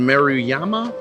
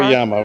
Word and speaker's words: Maruyama: the Yasaka Shrine, and we're now chilling in Mariyama Park. I think that's how you say it. Sure. Maruyama.